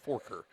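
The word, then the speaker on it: Farquhar: he's probably saying how do you get that spelling of your name to be pronounced Forker fa our QA HR I'd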